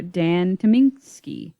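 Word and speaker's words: Dan Tyminski: constant sorrow by the soggy bottom boys or dan tominski that's how you pronounce it from the oh brother arthur of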